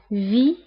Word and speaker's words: vit: il vit ما كنطقوش T كنقولوا فقط V.